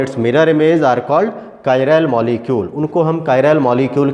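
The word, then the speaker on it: chiral: तो जो कायरैल है KYRAL, इस तरह से इसका प्रोनाउंसिएशन है कायरैल, और ये चेयर वर्ड से बना हुआ है जिसका मीनिंग होता है ग्रीक में हैंड।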